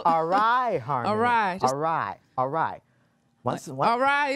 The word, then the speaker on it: Arī: This is going to take a while for me to pronounce her first name because I keep pronouncing it's Arai Harmony. Nope. Yeah, nope. It's Arai Harmony.